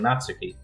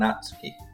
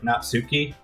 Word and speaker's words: Natsuki: people like Sayori and Natsuki. Ah, well, it's nice to meet both of you. It's weird because I pronounce it in my head like Natsuki, but I'm putting the emphasis in the other place.